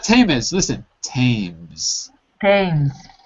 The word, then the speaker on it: Thames: Thames. It's not written the way it's pronounced. It's written Thames, but it's pronounced as if there's no H.